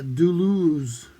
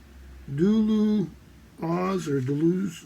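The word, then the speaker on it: Duluoz: the legend of uh duluz or dulu oz d-u-l-u-o-z i think there's three syllables in it the luaus or something but it's it's an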